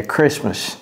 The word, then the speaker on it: Christmas: way you see how we write Christmas with a t but we don't pronounce the T okay Christmas and then I talked